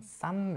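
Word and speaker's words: 쌈: Sam is also different. So it's written as like double S, Yeah.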